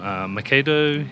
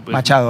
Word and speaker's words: Machado: So Macedo, you know... Machado, Machado.